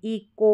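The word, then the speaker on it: echo: यहां पर देखेंगे तो इसको इ चो नहीं पढ़ेंगे इको पढ़ेंगे क्या पढ़ेंगे इको और इसको केस केस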